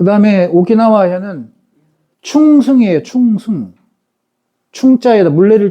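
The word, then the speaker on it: 沖縄: 그 다음에 오키나와 현은 충승이에요. 충승. 충자에다, 물레를 충자에다가 승은 아마 새끼승 같은데 충승현하고 오키나와라고 발음한다.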